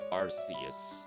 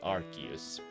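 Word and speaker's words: Arceus: none other than our uh god of creation Arus or should I say Archus because they changed the pronunciation for some reason. So my favorite normal type Pokemon is Archus.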